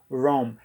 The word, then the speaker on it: ROM: se chama CD ROM ROM é uma sigla que quer dizer Bridge on Memory mesmo inglês é pronunciada home eu sempre ouvi muita gente falando cd-rom cd-rom um seria uma sala